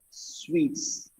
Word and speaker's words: suite: word hotel rooms okay hotel rooms are called sweets it's not suited is what you wear okay that is suit this one is a room a nice furnished big room is called sweet s-u-i-t-e muttai madhuri s-w-e-t-e-e-s